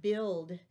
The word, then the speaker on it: build: of a difficult word because of the different silent letters and the way the vowels are not in the order were used to it's the word build bu IL d build I like to build